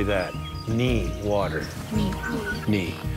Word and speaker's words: Ni: So, Ni is water, so we'll say that. Ni, water.